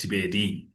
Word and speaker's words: Thibeli: I know it's it's a bit of like we were discussing it's Tibeli it's spelled Tibeli but it's pronounced Tibedi.